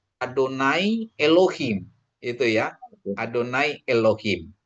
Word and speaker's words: Adonai: Jadi walaupun tidak ada holnya itu sama sama artinya sama bacanya gitu. Bacanya tetap Adonai.